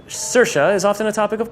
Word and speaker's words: Saoirse: can just call me freedom what's most creative pronunciation of your name you've ever heard Sally and jasmine which are two entirely different names do you